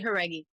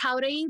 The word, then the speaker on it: Jauregui: way to say it well it's it's "jauregui" but it honestly it's you can just say "how-reghee" because i say "how-reghee" for america in american life anyway like i i'll say "jauregui" when i'm just like lauren "jauregui" but like that's the proper way to say it yeah foreign people have